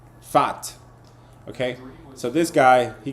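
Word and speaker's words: Pfaadt: We have Brendan Pat or however you say his name, man. How do you say this guy's name? Fat. I think you you ignore the P, right? Fat.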